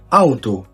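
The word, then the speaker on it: Auto: على سبيل المثال معانا أول مقطع اللي هو او وبيتنطق أو zum Beispiel أوتو يعني سيارة.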